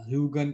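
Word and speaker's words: Huygens: सुना है बोलते हुए, ह्यूजेनिया या ह्यूगन करके बोलते हैं, लेकिन इसका सही प्रोनाउंसिएशन तो है ना, वैसे ह्यूगन ह्यूगन ही है, मतलब मैंने नेट पे भी देखा था।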